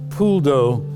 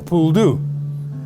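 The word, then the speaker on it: poule d'eau: pasta throughout cajun food pool dough which is uh that's how it's pronounced correctly in french it's been bastardized to become a pool do and uh their coots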